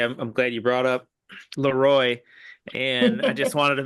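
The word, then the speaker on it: Le Roy: But they would say destroy Leroy was like so you had to do Leroy to make that rhyme with the destroy.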